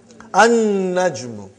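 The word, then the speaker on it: النَّجْمُ: Next one, brother. An-najmu. You did not pronounce lam because noon is a shamsi, sun letter.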